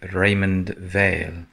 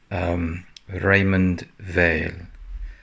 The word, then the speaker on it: Raymond Weil: here on this really attractive little watch by Raymond Vail and yes that's how you pronounce it Raymond Vail and yeah so you can just see there